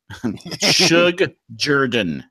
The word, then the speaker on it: Shug Jordan: was actually coined by Suge Jordan, and I love to hear the New York sportscaster say Sug or Shug Jordan. Suge Jordan is how you say it in Auburn, and he coined the term